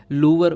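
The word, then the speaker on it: Louvre: इसको हम लोग लूवर प्रोनाउंस करते हैं, ठीक है।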